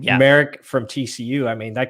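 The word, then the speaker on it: Moehrig: You mentioned Morik. Is that how you say it? Merrick, is how you say his name? Yeah. Merrick from TCU.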